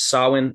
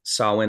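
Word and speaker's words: Samhain: Halloween originated with the Pagan ritual and it's pronounced sawin but it's Sam Hae s m ha a i n if you want to look it up sawin is how you pronounce it this ancient Festival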